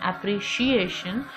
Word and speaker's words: appreciation: Similarly, in appreciation, it is sh is not pronounced. This C is not pronounced as C, it is pronounced as sh.